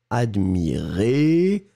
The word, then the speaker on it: admirez: attention encore une fois on va prononcer les deux je regarde oui le premier admirait qui monte et le deuxième admirez qui descend d'accord admirait admirez vous